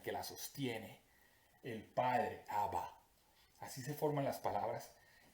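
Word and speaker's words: אבא: Aleph Beit, que se pronuncia Abba, ya han escuchado eso antes, quiere decir padre.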